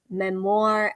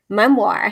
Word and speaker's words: memoir: 12-week pen to publish memoir anthology. Memoir? How do you say that word? Memoir. Memoir. It's spelled weird. It's memoir. Must be French.